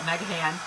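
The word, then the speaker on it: Meghan: The way it's spelled is M-E-G-H-A-N, so we call it Megahan.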